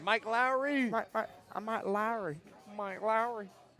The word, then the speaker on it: Lowry: Lowry.